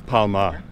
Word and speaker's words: Palmer: My last name is P-A-L-M-E-R, but I can't pronounce the R, so it's Palma.